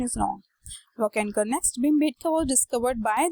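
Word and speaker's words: Wakankar: Correct में, my pronunciation is wrong, वॉकेनकर।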